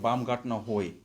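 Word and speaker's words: Baumgartner Höhe: It's a place called Baumgartner Hoy. So that's how they pronounce it.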